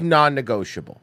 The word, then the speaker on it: non-negotiable: jokes and that's like non-negotiable do you hear me you see that non spelled like the bread it's nonnegotiable we're starting already we're